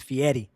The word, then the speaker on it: Fieri: It's Fieri.